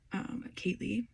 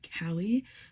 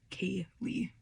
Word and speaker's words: Kaylee: First, I know I've talked about this before, but my name is Kaylee, obviously, but a lot of people pronounce it as Callie because of the way it's spelled, but it is Kaylee.